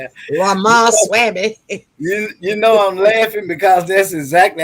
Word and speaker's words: Ramaswamy: She has some, and right now, her thing, what she's talking about right now, is this other candidate, Ramawhammy. I don't know how to pronounce his name. Ramaswamy.